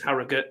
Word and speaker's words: Harrogate: Harrogate quite well and I said it right Harrogate not Harold Harrow gate is the place to go so my son was